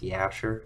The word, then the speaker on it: Jasher: For anyone following along at home, it's spelled with a J, but it's Hebrew, so it's pronounced Yasher.